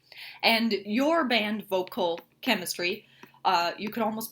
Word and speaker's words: Voquel Kemistry: so the listeners is aware the the name is spelled v o q u e l vocal chemistry with a k um and we just kind